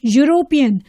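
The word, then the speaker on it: European: next example dash यूरोपियन अब यह verbal letter से शुरू हो रहा है पर हम इससे पहले एन नहीं यूज करेंगे क्योंकि हमें साउंड पे फोकस करना है साउंड क्या है यू Y double O यू इसलिए इससे पहले हम अ यूज करेंगे because it is consonant sound Y इज a consonant letter next dash house house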